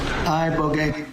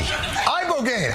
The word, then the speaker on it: ibogaine: Ibogaine. Body. Body. Body. Ibogaine. Ibogaine. Rogaine with an ibo.